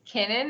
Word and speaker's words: Kennan: how to pronounce it it's Kennan it's like McKinnon without the Mac in front of it perfect so her